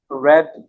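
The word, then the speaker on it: read: खाली हैज नॉट रेड the novel ever ठीक है रीड की थर्ड फॉर्म स्पेलिंग में सेम होती है सिर्फ साउंड उसका चेंज होता है वो रेड हो जाता है नंबर सेवन दे डैश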